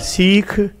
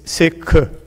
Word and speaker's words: Sikh: Second, Sikh word is not Sikh, it's not Sikh, it's Sikh. It's like Mikhail. KH is spelled, if pronunciated as just like you will say Mikhail. That K is a Sikh.